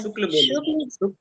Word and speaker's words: शुक्ल: नहीं कहती है, गलत बोल रहे हैं नाम। और शुक्ल रामचंद्र शुक्ल है, ठीक ना? उच्चारण सही से कीजिए।